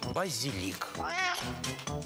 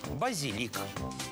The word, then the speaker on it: базилик: Сейчас только «базилик». Совсем запуталась? Сейчас распутаем. Словарь ударений Ирины Резниченко предлагает на этот случай простую запоминалку через легкое слово «розмарин». Иными словами, «розмарин – базилик». Вот и все.